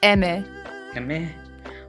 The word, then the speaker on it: Aimer: now I I recently found out the correct pronunciation of her name Amy it's Emmy oh no no no no die-hard fans everyone no I know I I used to pronounce her and her name is aimer yeah because that's how it's spelled right here